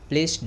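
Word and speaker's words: placed: प्लेस्ड होगा, ड होगा यहाँ पे, ट नहीं होगा, प्लेस्ड।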